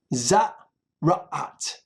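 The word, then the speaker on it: tzara'at: Naga za ra'at. Ra'at. The accent is on the second syllable.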